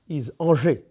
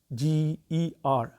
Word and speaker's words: Angers: The name of that city is Angers. If you allow me to spell it, Angers. It's not anger.